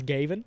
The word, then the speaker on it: Gayvin: His name is Gavin, but it's spelled Gayvin, so it's Gavin.